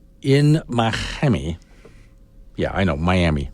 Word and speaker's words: Miami: Mami yeah I know Miami Mami is how you hear a lot of people pronounce it down there those people are usually from Cuba anyway down in Miami they